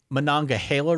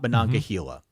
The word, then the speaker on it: Monongahela: And the most important one of all, it is apparently the Monongahela River and not Monongahela.